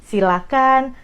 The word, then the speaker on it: silakan: apa sih Ya kan kita bedah dulu dari pronounciationnya jangan pakai ha itu yang paling penting Jadi silakan persilahkan jangan pakai itu dari pronounciationnya Nah kalau dari katanya